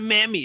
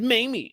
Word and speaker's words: Mamie: They were like, it's not Mammy, it's Mamie.